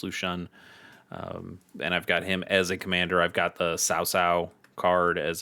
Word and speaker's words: Lu Xun: I've got a Lu Xun deck, or Lu Xun, maybe you've seen, but it's pronounced Lu Xun.